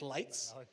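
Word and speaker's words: Leitz: Le a lenses although now they are called lights lenses so the correct pronunciation of the the company is lights and the reason that we have this name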